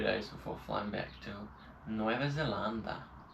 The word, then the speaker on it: Nueva Zelanda: before flying back to Nueva Zelanda. Right, that's how they say it in Spain. That's kind of cool. That's better than the way we say it.